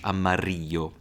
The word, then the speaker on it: amarillo: I really loved pronouncing that double L in Spanish, amarillo, and naranja, or rojo.